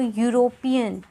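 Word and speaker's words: European: the letters hair यूरोपियन अब हम इसको पढ़ते कैसे हैं ई साइलेंट है तो यूरोपियन य की साउंड आ रही है फर्स्ट लेटर की य की साउंड आ रही है तो यहां पर अ यूज करेंगे अ यूरोपियन अनदर एग्जांपल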